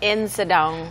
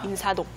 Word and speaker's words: Insadong: 특히 인사동이 저는 처음 들었을 때 인사동이라고 말할 줄 알았어요. Right. 그런데 어떻게 말하죠, 보통? Insadong. 그래서 이 Like, I'm going to Insadong. 네, 사 발음이 안 들리고 스처럼 들려서 인사동, Insadong.